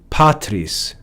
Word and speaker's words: patris: We see patris, a two-syllable word where the first syllable, which is the second to the last, is accented. Patris, that's normal.